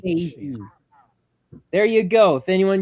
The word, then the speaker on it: Fahey: Yeah, Megan Faye. Wow. Okay. Yeah, that's what I was assuming. Megan Yeah. Faye. There you go. Fahey. Like Fahey, but silent H. Faye.